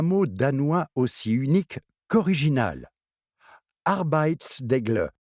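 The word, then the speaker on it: arbejdsglæde: danois aussi unique qu'original arbit degle b GL commençons par apprendre à prononcer le MotB croquez un gros morceau de pomme coincezle dans votre gorge et dites signifie travail joie combinez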